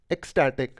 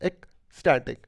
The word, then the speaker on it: ecstatic: word is ecstatic right understand its pronunciation its ecstatic right it's not static it's a static right so ecstatic is